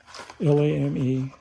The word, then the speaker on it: lame: And then there's and I just learned the proper way to say this. It's a bread lame, L-A-M-E, a lame, for scoring the loaf.